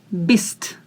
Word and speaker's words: bist: You need to feel the air when you pronounce t. Bist, bist, bist. If you don't feel the air, you're pronouncing it wrong.